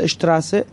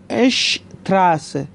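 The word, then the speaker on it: Straße: دوستان دقت کنید استی در ابتدا اومده مثل اشتراس، استی در ابتدا اومده، گفتیم استی و اسپی که در ابتدا باشن اس رو ش میخونیم، دقت کنید اشتراس و شهر اشتات، اون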